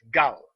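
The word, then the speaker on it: גל: number 33 is all is written as Gil in Hebrew and pronounce gal meaning round thing wheels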